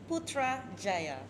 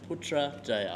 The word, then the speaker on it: Putrajaya: It's very simple. Putrajaya. Putrajaya. We just follow by the spelling. So it should be easy, yeah?